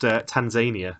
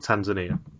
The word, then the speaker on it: Tanzania: week I know that it is now pronounced Tanzania not Tanzania Brooks was all about